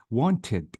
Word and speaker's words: wanted: Wanted, I maintain or keep the E with D.